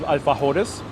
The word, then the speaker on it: alfajores: All around South America, there's different types of alfajores. Or if I were to pronounce it very American style, alfajore.